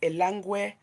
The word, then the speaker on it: Elangwe: The name is Elangwe. Elangwe, Elangwe, just like it is spelled.